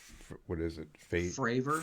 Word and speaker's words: Fravor: displeasure about having only the two graves and favor. I was mispronounced. It's favor. It's what is it? Fravor. Fravor. Yeah. Yeah, it's Fravor.